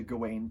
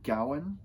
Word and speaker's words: Gawain: instructor was Australian and she pronounced his name Gowan and I always sort of thought that that was sort of the correct pronunciation I thought it was like an older one and it might be is but other people have called it sir gain it pro it's genuinely